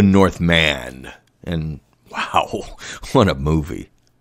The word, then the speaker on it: Northman: release the northmen funny how he pronounced at the northmen but you know it's the north man and wow what a